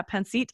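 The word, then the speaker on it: Pancit: um how do you say it Kora Cooks penit panit yeah yeah penit and that's a Filipino dish yes what so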